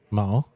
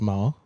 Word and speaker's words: Mayer: Mar. Apparently it's Mar, and I keep pronouncing it wrong.